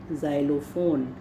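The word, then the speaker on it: xylophone: एक ज साउंड भी है, ज के नीचे बिंदी लगा दीजिए आप, ज़ाइलोफोन, है ना, उस तरह से।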